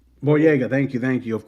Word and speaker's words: Boyega: is it boyo I always say his last name wrong boyega thank you thank you of course Jamie Foxx